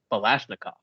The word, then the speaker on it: Balashnikov: But the Galil was actually designed by a guy named Yisrael Balashnikov. Rhymes with Kalashnikov.